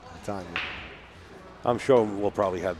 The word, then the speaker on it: Latonia: It's Latonia. She said a lot of people make the mistake, and she doesn't like it. Latonia.